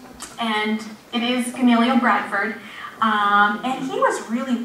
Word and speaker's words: Gamaliel: a good 5 minutes and keep on saying Gamaliel, and I'd have to repeat it after her. It was like My Fair Lady. So I finally got it right, and it is Gamaliel Bradford, and he was really well-loved by the town.